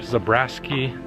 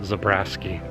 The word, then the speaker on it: Zabriskie: wanted to visit uh zabriskie or zabraski it's spelled like zabriskie but i've heard people pronounce it zabrasky i don't know you